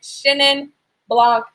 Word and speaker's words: Chenin Blanc: But anyways, so we're taking a journey into Chenin Blanc. Let's talk about how do you say it. Chenin Blanc, like Shin, like S-H-E-N, although it's not spelled that way.